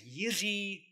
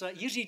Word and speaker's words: Jiří: It's Jiří just means George in Czech. And it contains this strange sound of the, which is unique to the Czech language, so it's a bit hard to do.